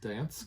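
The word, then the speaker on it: Gdańsk: Ostersund here to, and I think the G is silent, to Dansk.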